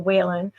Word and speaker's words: Wehlann: Also, my author name Whan, which is spelled a little bit funny for people. It's pronounced Whan like Jennings, but it's spelled we l a n.